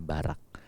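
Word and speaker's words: ברך: dalam bahasa Ibrani berkat dalam bahasa Ibrani itu barak bacanya barak bahasa Inggrisnya suka diterjemahkan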